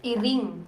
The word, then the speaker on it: Iring: Iring. Iling. Iring. R. Earring. Iring. Yeah, Like iring. Like earring? Earring, but I, with I.